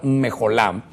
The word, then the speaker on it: mecholá: Ahora, cuando vemos esa danza, vemos que la danza, esa es la danza mejolá, ahí la pusimos, aunque se escribe mecholá, es la palabra mejolá, y es una palabra